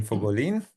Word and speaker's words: Fogolin: è un piacere introdurvi Anne Fogolin, che si pronuncia così perché l'origine di suo marito è italiana, per cui è un cognome italiano.